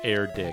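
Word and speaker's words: Erdrick: yeah erck is Granddad I'm pronouncing it wrong it's erck yeah stairs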